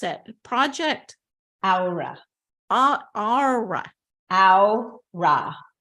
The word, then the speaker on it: Aura: Project Aura. Aura. Aura. Ow, like Like an owl. like owl, like an owl. I stub my toe, and ra. Okay.